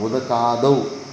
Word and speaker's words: ಉದಕಾದೌ: ಹಾಂ ಹಾಂ, ಉದಕಾದೌ ತೌ ಅಲ್ಲ, ಉದಕಾದೌ ದಕಾರ ಅನಿಸುತ್ತೆ. ದಕಾರ ಅಂತ ತಕಾರನ? ದಕಾರ.